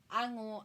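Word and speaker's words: あご: Ago yung spelling niya, pero ango ang bigkas sa kanya.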